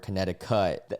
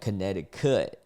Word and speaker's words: Connecticut: make it happen like Connecticut, you know, as like a way of saying like something especially like rappers, but the actual word Connecticut does not rhyme with donut.